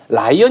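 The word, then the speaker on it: Ryan: 그래서 L은 리을자를 그냥 이렇게 리을로 하고 R 발음은 그 밑에 오나 우를 대주시면 자연스러운 R 발음이 되겠습니다. 라이언. 예, 벌써 발음이 라이언.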